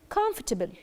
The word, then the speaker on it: comfortable: that we have is comfortable comfortable and here we have a silent letter which is the O we don't say come for table it's not for the